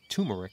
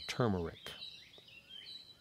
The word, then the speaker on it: turmeric: powder and it is turmeric is how it actually feels some people say turmeric but it actually spelled with the r is the third letter turmeric and so if I have